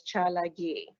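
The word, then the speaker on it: Tsalagi: cherokee is fine too although we say it as chalagi which is cherokee okay the cherokee language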